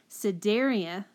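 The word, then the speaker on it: Cnidaria: cenar d a-- i never say it right Siderius there we go so daria platyhelminthes nematoda and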